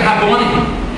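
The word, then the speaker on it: Rabboni: chama quando ela o chama aí ela fala rabon porque ela reconheceu a voz e quando ela reconhece a voz ela deixa dear entender que ele é o jardineiro e ela pronuncia rabone ela não está dizendo simplesmente como está na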